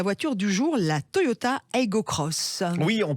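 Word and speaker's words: Aygo X: du jour là toyota ego cross oui on prononce cross sacré rigaud x mais c'est une croix inférieur c'est une croix mais ça se prononce cross parce que toyota voulu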